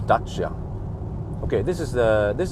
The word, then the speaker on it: Dacia: James May calls in Dacia the Dacia standero yeah yeah there you see a sandero but I think it's supposed to be pronounced dachsha okay this is the